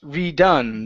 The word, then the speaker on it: redone: Right here, the word is pronounced redone. The stress is on the N.